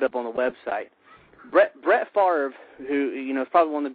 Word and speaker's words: Favre: Brett Favre, who is probably one of the top 3 quarterbacks of all time, I think we can all agree on that, has 3 MVP. You got to say Brett Favre.